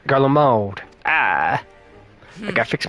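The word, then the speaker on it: Garlemald: Having heard of descent in Galald, I dare. Oh, I've been saying it wrong. Garald.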